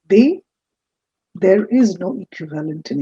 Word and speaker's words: des: Which is why in French for this d e s that's pronounced as they there is no equivalent